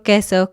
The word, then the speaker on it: queso: Siempre va a haber una U después, pero siempre va a sonar como K y nunca se va a pronunciar la U. Entonces, quiero, queso, quito. Estas palabras, la U no suena.